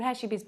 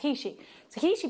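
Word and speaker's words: heishi: hot so akishi bead we thought they were called hashibis but actually Linda found out she did some research on on the Mexican tribes there it is pronounced he she beads are Mexican beads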